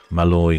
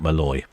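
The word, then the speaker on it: Måløy: The town is Mallaloy, not Malloy.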